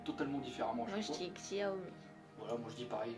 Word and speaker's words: Xiaomi: Moi je dis Xiaomi. Voilà, moi je dis pareil, je dis Xiaomi. Ça sonne comme xylophone.